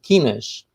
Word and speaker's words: quinas: find 5 small blue shields that we call quinas.